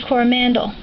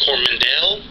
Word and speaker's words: Coromandel: My first trip to New Zealand, Brian was building homes, and we went to the Coromandel.